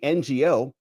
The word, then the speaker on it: Ngo: that have been uncovered by our friend Andy NGO, which is how you pronounce it.